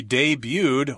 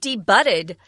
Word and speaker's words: debuted: tense we're adding edy so it's kind of interesting because then this word only has two syllables a debuted she debuted or came out for the first time in a comic book back in 1984 yeah be careful don't say D butted that would be incorrect it's a French word